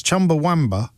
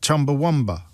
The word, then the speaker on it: Chumbawamba: I'm sorry to be that person, he writes, but it's Chumbawamba, not Chumbawamba. Who put the U in Wamba? I think that's just the way I talk. I mean, if you'd asked me to spell it, I probably would have said Chumbawamba with a U. But does it sound that different? No one says Chumbawamba.